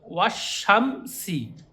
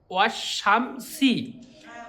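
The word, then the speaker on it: والشمس: তখন আলিফ লাম মানে উচ্চারণ হবে না, টোটালি আলিফ লাম বাদ যাবে, লেখা থাকবে কিন্তু বাদ যাবে, যেই হুরফে শামসির সঙ্গে জুড়ে পড়তে হবে।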